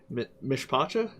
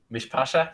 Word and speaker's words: Mishpacha: So why don't you tell me a bit about I'm gonna mispronounce this, and I'm sorry, Mishpacha. Mishpasha, yeah, it's an old Hebrew word.